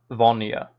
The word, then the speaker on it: Vonia: It was either Vonia, Vonia, stress on N, Vonia.